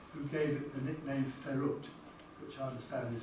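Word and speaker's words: FERUT: was the one who gave it the nickname Ferrut, which I understand is pronounced Ferret, which obviously stands for Ferranti at the University of Toronto.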